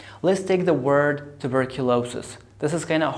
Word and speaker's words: tuberculosis: Question number two, which syllable is stressed? Here I have two stresses. I have primary stress, I have secondary stress. Because it's a long word, so we have two stresses. So I say tuberculosis.